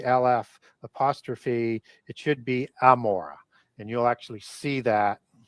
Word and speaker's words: Gomorrah: Even though it's it's uh pronounced Gomorrah today with with the LF apostrophe, it should be amora.